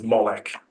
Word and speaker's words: Molech: in any case um I'll be pronouncing the name as MCH for the rest of this presentation to to keep that